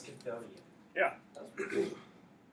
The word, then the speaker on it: Chthonian: It's Chthonian. Yeah. That was pretty good. Did I pronounce it right?